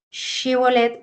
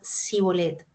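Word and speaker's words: shibboleth: por sus enemigos porque no sabían pronunciar el sonido sh She Y en lugar de decir sh bolet pronunciaban si bolet así la palabra se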